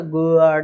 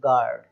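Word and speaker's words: guard: तो गुआर्ड, है ना, गुआर्ड इस तरीके से नहीं बोलना, केवल गार्ड, है ना। जी और ए जो है एक वोवल है, उसके पहले यू आ रहा है, यू साइलेंट हो गया हमारा।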